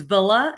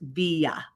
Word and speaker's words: Villa: you could do and one of them is is is Villa and the other is via the two L's make a y but Villa is what